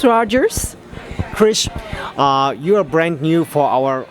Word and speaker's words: Kriz: more yes sure absolutely my name is chris rogers and it's spelled k RI z rogers ers and I'm